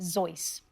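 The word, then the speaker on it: Seuss: Hat my doctor's use although he would have pronounced it sois there you go we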